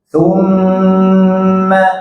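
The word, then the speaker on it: ثم: Nah, ini tasdidnya jangan dihentak kalau mim sama nun, dilamakan saja. Thumma, coba.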